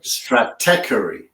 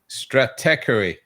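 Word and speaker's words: Stratechery: It's interesting uh how you pronounce the the the name of the publication. Steve Gilmore has trouble with it as well, but it's Strateery. Strateery. Strateery rather than Yeah.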